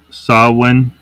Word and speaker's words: Samhain: of the seasons and all that stuff it's pronounced sawin um just it is pronounced the way it's